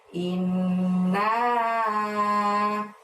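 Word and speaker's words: إِنَّا: ke-1 dimulai dengan lafaz inna. Nah, innya ditahan dan ditekan selama 2 harokat ya, karena ada nun tasydid di situ. Kemudian naknya panjangnya 5. Nah, seperti itu. Jadi membacanya inna.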